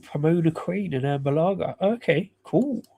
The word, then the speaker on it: Pomona: Um at least you're pronouncing Pomona correctly. We got a lot of people say Palmona.